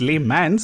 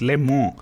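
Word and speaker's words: Le Mans: i've been told that it's not pronounced les mans it's pronounced lemon oh well when life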